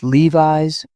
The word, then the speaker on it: Levi's: I've heard people say Levi's with stress on the Vi. It's Levi's with a long I.